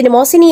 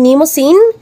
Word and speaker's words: Mnemosyne: chikahin natin ngayon si nimos sin o si nimin different pronunciations but we're talking about the same Greek character si nimos sin o